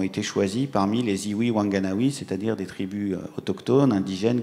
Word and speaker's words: Whanganui: La rivière Whanganui, ou Whanganui, comme on la prononce, en Nouvelle-Zélande, a opté par une représentation fixe.